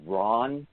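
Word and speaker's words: Rawn: It's by an author named Ron, and that's spelled R-A-W-N, Clark, and he wrote a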